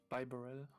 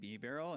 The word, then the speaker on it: Bibarel: Bibarel. How do you pronounce it? Is it B? I've been calling it B-barrel, and I feel like that's wrong because every time I say that, chat makes fun of me.